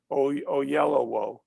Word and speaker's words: Oyelowo: you don't want to insult people by not pronouncing. I finally got to know David Oyelowo.